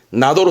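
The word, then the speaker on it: など: 하지만 일상 대화할 때는 나도로 쓰죠. 나도. 진자, 오테라, 나도. 그죠? 등등. 예를 드는 거잖아요. 그래서 쓰기는 등자를 쓰긴 하지만 보통 발음은 나도.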